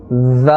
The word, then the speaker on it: ذ: It is pronounced from the top of the tongue and the inner edge of the upper teeth.